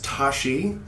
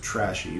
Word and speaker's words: Tashi: I've heard known as Tashi. sometimes spelled Trashi which looks like you you could pronounce it trashy but I don't you